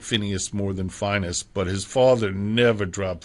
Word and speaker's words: Phineas: And he pronounced his name Finus.